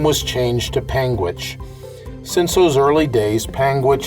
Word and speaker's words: Panguitch: over a 100 times in my travels is pangit which is the county seat of Garfield County